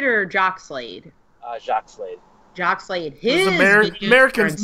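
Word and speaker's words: Jacques Slade: How is it, Jockey Slade or Jock Slade? Jack Slade. Jock Slade.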